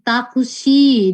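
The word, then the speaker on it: タクシー: Nah, misalnya ini takushi, dia taksi ya, taksi itu takushi. Bukan shi pakai i, tapi dia pakai tanda panjang kayak gini nih. Taksi. Jadi dia long vowels, tadi dibacanya panjang ya, dua harkat.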